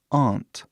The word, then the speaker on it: aunt: Então, muitos dialetos do inglês falam aunt, que é bem diferente, né? Aunt, que é tipo O, T, né? Esse T forte do inglês. T. Então, As duas pronúncias estão certas. Ninguém pode falar que está errado.